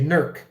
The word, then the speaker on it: Newark: called new work but they don't say newark they say nerc and we don't say